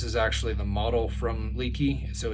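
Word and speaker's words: Leki: one uh i'm using i think it's leaky as how it's pronounced is that how's that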